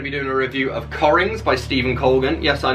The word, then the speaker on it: Cockerings: am going to be doing a review of corings by stephen colgan yes i know it looks like it's pronounced rings but it is